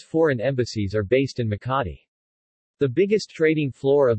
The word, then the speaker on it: Makati: Makati, Makati Tagalog pronunciation, Makati, officially the city of Makati, Tagalog,